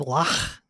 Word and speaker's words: lough: Lock, if you're going with lach, if you're going with the Scottish.